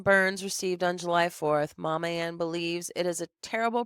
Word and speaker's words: Mammann: Daniel figured a perfect name for the girls to call his mother, Mama Ann, and that's spelled Mammann. Mama is combined with her name Ann.